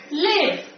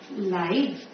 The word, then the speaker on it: live: word we pronounce it live when it is used as an adjective we pronounce it as life we are pronouncing it as life understand so don't you